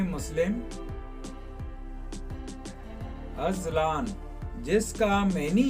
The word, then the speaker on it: Azlan: नाम है अजलान, जिसका इंग्लिश स्पेलिंग है AZLAN, अजलान। जिन्स है लड़का, जुबान है उर्दू, मजहब है मुस्लिम। अजलान जिसका मैनी है शेर और बबर शेर।